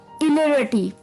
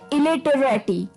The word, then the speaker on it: illiterati: और ये वर्ड है इलेरिटी. जी हाँ दोस्तों, इलेरिटी, या फिर इसकी प्रोनाउंसिएशन ये भी हो सकते हैं इलेटरेटी. तो आप जैसे भी आपको ठीक लगे आप वैसे ये वर्ड बोल सकते हैं.